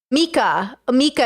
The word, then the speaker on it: Mika: Mika is the pronunciation. Mika.